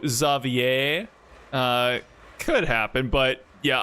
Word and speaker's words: Xavier: well I mean yeah you can pronounce X as a z uh and then uh some French words do end that end with an e r you you know pronounce like a so zier uh could happen but